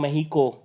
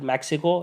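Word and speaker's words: México: consider the following statements regarding Mahiko technically that out is pronounced but we call it Mexico anyway Tropic of Cancer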